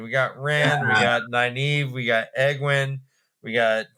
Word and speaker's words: Nynaeve: Nynaeve.